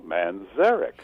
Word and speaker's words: Manzarek: player of the doors you put the accent on the second syllable Manzarek oh that's Derek well